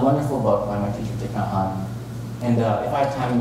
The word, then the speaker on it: Thich Nhat Hanh: Thich Nhat Hanh. And that's how you pronounce it.